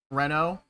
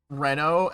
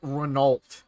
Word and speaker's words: Renault: you have no idea how many people people I know pronounce Renault as renal or sayat as seat